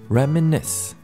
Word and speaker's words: reminisce: 발음만 주의하시면 됩니다. reminisce. 뒤에 좀 더 강조된다고 보시면 되는데요.